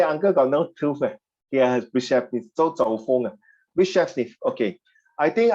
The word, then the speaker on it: Brezhnev: It's pronounced Brezhnev.